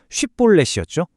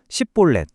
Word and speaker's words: 쉽볼렛: 정답은 쉬음이 정확하게 들어간 쉬볼렛이었죠. 그런데 문제가 뭐였냐면 에브라힘 사람들은 방언 구조상이 쉬을 하는게 신체적으로 아예 불가능했어요. 혀가 안 따라주는 겁니다. 그래서 억지로 해도 10볼렛 혹은 10볼렛이라고 발음할 수밖에 없었던 거죠.